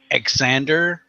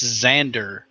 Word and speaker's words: Xander: Xander Tyrion rsby and it's not Alexander but it's spelled with an X and so people are like exander and I'm like no it's not exander it's Xander that's that's how that's pronounced based on fucking phonetics I'm sorry and and